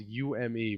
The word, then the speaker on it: Ume: Ume, that's spelled U-M-E, but it's actually pronounced Ume.